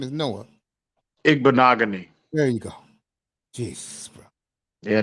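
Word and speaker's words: Igbinoghene: attention damn um it's like that can you pronounce his name again I know his first name is Noah ignogany there you go Jesus yeah Noah he he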